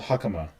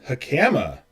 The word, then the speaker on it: hakama: nerd thing it's that the emphasis is on the first syllable and not the second syllable so when we pronounce